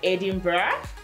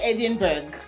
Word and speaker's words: Edinburgh: Her recent posts have been talking about Edinburgh. Let me tell you a short story, right? I was going to say Edinburgh, but I watched The Crown. And the correct pronunciation is Edinburgh.